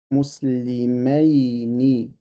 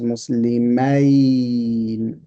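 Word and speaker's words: مسلمَيْنِ: So this word is pronounced muslimayni. This one is pronounced muslimina.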